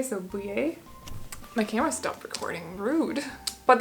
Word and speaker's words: Boulley: I'm expecting this to be pronounced in a French kind of way, so Boulley.